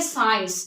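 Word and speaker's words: science: अक्सर सी की होती है इसको हम पढ़ेंगे साइंस इसमें सी क्या हो गया साइलेंट हो गया सीजर्स साइंस सीजर्स मसल तो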